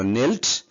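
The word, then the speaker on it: kneel: এটা কে, কে লেটার, কে বর্ণটার উচ্চারণ হচ্ছে না, এটাকে সাইলেন্ট লেটার বলে, এটা উচ্চ থাকবে।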